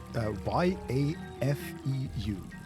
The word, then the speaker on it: Yafeu: Y-A-F-E-U. Y-E-F-E-U. Well, it's like Jafar, right? But yes. From Aladdin, right? Yafeu.